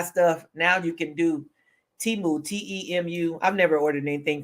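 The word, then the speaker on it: Temu: did wish I think now we've got Teemu or TAMU and you've got Sheen or she in however you want to pronounce it but wish was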